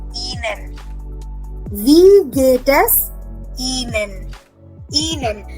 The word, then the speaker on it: Ihnen: Ihnen. Remember, I is pronounced as E in German.